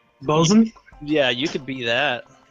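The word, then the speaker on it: boatswain: say it but like the boat swi or whatever it is bosen yeah you could be that I would be I'll do whatever you want me to do I could do a bosen I could probably be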